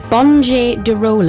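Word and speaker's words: Bonde do Rolê: It's a Bonje du Role, is that correct? Yeah. It's spelled Bonde du Role, if you can look for them.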